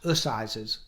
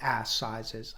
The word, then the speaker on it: Assizes: That's Assizes, by the way, not Assizes. I know it's spelled that way, but it is not a buttock-measuring competition.